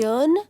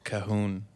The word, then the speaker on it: Cajun: And I kid you not, they believed that the J in Cajun was silent. So what did they say? pronounce it? Cajun? Cahoon.